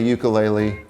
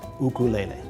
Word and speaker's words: ukulele: The Hawaiian correct pronunciation is ukulele. Put a little apostrophe in front of the u for that sound.